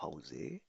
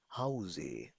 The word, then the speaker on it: Hause: Okay, Bhavna, warum bleibst du heute zu Hause? Ich bleibe heute zu Hause, weil ich krank bin. Sehr gut. Weil ich krank bin. क्योंकि मैं बीमार हूँ. Haus नहीं, Hause. Pronounce with me, Hause. Hause.